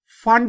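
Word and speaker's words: Pfund: Brackett series and we have फंड series. इसमें भी P जो है वो साइलेंट है।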